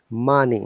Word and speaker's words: money: In Oh, the all of these o letters are pronounced as a sound. A, onion, oven, onion, dove, oven, done, dove, money.